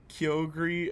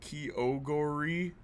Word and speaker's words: Kyogre: remember that part where they pronounce uh key Kyogre as kyogori oh wow really why